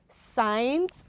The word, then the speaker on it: signs: you recall we said letter g following either letter m or letter n becomes what becomes silent okay so that is